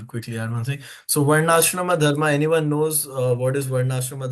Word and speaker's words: Varnashrama dharma: Varnashrama dharma. No, you got it pretty good.